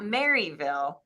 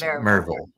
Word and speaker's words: Maryville: for for the funeral it's not Maryville it's marville yeah that's right I